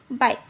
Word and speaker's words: bike: जैसे कि अब हमारा यह है बाइक, ई हमारा साइलेंट है, BIKE, बाइक। यह वाला हमारा ई साइलेंट है।